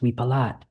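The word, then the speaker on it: วิปลาส: In in Thai it's pronounced we palat and it kind of means like crazy.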